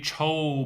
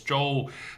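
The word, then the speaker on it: 周: For example, for the Joe, a lot of English speakers tend to say cho because cho cho is much easier to pronounce as a English uh syllable, but it's not cho, it's Joe.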